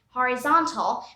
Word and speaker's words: horizontal: one thing here here the hori section of the word is pronounced as hawaii horizon and here it's pronounced as hurry horizontal but here one more thing we don't really probably pronounce the h we say horizontal and this is horizon our next pair of